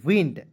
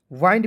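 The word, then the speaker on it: wind: उसके बाद देखिए यहां पे डब्ल्यू आई एन डी तो पढ़ेंगे दोस्तों विंड। वाइंड भी बहुत लोग पढ़ लेता है। इसे पढ़ना है दोस्तों विंड पढ़ना है।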